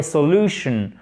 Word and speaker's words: solution: The negotiations broke up without a solution. Solution, OK? Accent tonique sur la deuxième syllabe. Parce que c'est un mot en shun. Souvenez-vous, les mots en shun, l'accent tonique, il est sur la syllabe précédente. Solution.